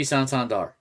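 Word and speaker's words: Santander: him this guy probably could have been Anthony santandar and that's how you say it sandar uh Baltimore he's got 23 home runs most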